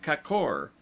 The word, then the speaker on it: kakor: word, as kor, gorges, pronounced as though written kakor, the a having the sound of a in sofa, lions, Jadon.